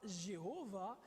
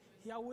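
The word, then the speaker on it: Yahweh: complet y hw h la prononciation très certainement serait non pas jéhovah mais serait très proche de ya recours nous avons entendu yarou et déjà ok yahoo et mais ce serait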